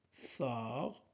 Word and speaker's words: sort: Myriam, Myriam sort, sort, on ne prononce pas T, sort de la maison, maison.